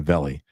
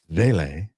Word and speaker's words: Vele: Northern Saint says vele. I'm sorry I was pronouncing it wrong earlier. It's not a belly. It's vele. Vele.